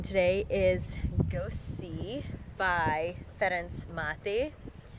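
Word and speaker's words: Ferenc Máté: is go see by fence mati you can notice that I pronounced that in a certain way not with an English accent or American accent because it is written by a Hungarian man and since I am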